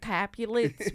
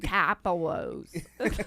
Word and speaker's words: Capulets: We don't pronounce it Capulets, we call them Capolos. We have to make everything Italian.